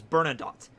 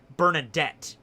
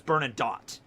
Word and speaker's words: Bernadotte: Okay, his last name is Bernadotte. And there's a character in Hellsing Ultimate in the dub that pronounces his name Bernadette, and everybody else says Bernadotte.